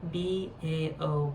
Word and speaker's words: Bao: And we're pretty sure that's how you pronounce it. B-A-O, Bao.